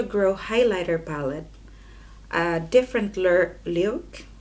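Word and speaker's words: Lewk: A different look. How do you pronounce it? L-E-W-K. Look for every day.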